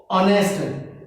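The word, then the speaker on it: honest: ओ को रीड करते हैं, ओ यहाँ पे वोवल में, और Penner, ऑनेस्ट, H silent, ऑनेस्ट बॉय, ऑनेस्ट।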